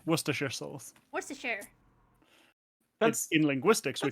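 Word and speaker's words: Worcestershire: I win okay because if you said it how it's spelled or anything it would be like warer Shire and yeah no that's that's right out okay that's right out yeah wor your souls what in linguistics we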